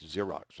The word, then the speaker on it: Xerox: product, or you can, that's spelled Z, not Z, it's Xypex, like Xerox, okay?